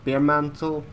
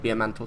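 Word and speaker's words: Bearmantle: as I told brawl bare mantle bare mantle not be a mantle sorry pronunciation bare mantle since it refers to the animal not to the lovely beverage exposed him as a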